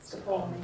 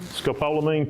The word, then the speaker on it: Scopolamine: Scapalamine." Scopolamine patch, put it on my ear.